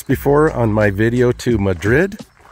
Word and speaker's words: Madrid: on my video to madrid or madrid as they like to pronounce it there i'll probably stop up